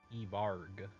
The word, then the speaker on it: Evarg: Is it pronounced Evorg or Everg? Evarg. Evarg. That's right.